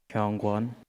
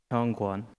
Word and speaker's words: Hyungwon: Hyungwon. Wait, say it again. Hyungwon.